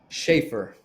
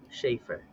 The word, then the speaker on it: Schaefer: Schaefer. Schaefer. Yeah. That's It's great. actually there was an old beer called Schaefer beer. It's spelled just like it, but no one drinks Schaefer beer except in the Caribbean.